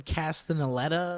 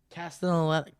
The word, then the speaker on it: Castellaneta: Dan Castellaneta or something. Is that how you say it? Castellaneta.